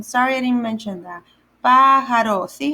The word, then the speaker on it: pájaro: Pájaro. See how it's the pa is a little longer on the A, the first A?